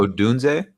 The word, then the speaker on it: Odunze: I always butcher Romain Odunze's last name. Odunze?